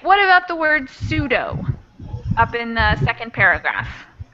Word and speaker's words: pseudo: Oh, the P is silent. Yes. Pseudo. Mm-hmm. It's similar to other words like psychology, where in English we really don't pronounce that oddball P that comes before an S.